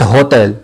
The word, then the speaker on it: hôtel: voyait pas dire cet hôtel c'est l'hôtel donc le h est imprononçable il ne se prononcent pas les menus cette peine